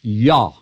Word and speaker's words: Jah: we we realize that the Hebrew did not have the J sound so it's pronounced yah and it's the same name as Yahweh or yah so the writer in